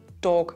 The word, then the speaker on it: Tag: Something very typical in our dialect also happens here: very often an "a" becomes an "o". For example with “ja”, which we pronounce like “jo”; or "Tag" which becomes "Dog", as we'll see in a moment.